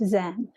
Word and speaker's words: Zen: made its way to Japan where it's pronounced Zen so what is this